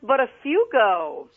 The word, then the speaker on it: Baugo: pin welcome hi it's listen it's pronounced baugo come again baugo is the last name that's how it's pronounced you did what you